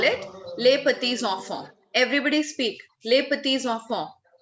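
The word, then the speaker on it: petits-enfants: You are correct, Manrina, but your pronunciation is not correct. They are called les petits enfants. P-I-T-I-T-S is petits. Well, it's petit, but it has to be carried forward with the sound of enfant, E there.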